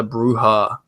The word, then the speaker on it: bruja: I never knew that, you know, La Bruja is La Bruja. You know, the J is supposed to be pronounced an H.